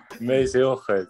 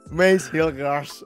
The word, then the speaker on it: Mees Hilgers: So, how do I say your name? The correct pronunciation, yeah. Mees? Yeah, that's quite good. Hilgers. Can you say again? Hilgers. Mees Hill. Gers. Okay. Mees Hilgers. Mees Hilgers.